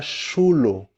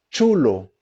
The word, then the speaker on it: chulo: Em espanhol, para começar, a pronúncia do CH muda e não fica chulo. Okay? Não existe essa pronúncia do CH, esse chá, xe, xi, né? Não existe CH. A pronúncia é chulo, como se tivesse um T antes, né?